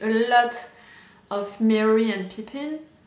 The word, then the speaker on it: Pippin: It's making me think a lot of Merry and Pippin. I don't know how to pronounce it in English. In French, it's Pipin. Pipin, Pippin.